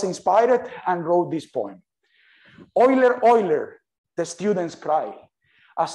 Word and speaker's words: Euler: So I have just 1 minute here, and just to relax, you know that Euler is written like this, but it's pronounced Euler.